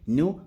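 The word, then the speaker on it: know: कई बार बच्चे इसे प्रोनाउंस करते हैं कनो। कनो नहीं होता ये, एक्चुअली इसका जो प्रोनाउंसिएशन होता है वो होता है नो और नो की सेकंड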